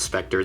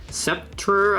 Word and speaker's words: Sceptre: National advertising by IBM featured, or not Spectre, this is a Sceptre, I think is how you say it, the company's computerized maintenance programs.